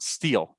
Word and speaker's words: steal: But this one you give me a little E at the beginning. No A, right? Just steal. Just steal.